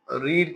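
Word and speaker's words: read: Book was नॉट और रीड की third form लिखा स्पेलिंग सेम जाता है रीड पढ़ा जाता है रेड वाज नॉट रेड बाय the students right correct समझ में आ रहा है?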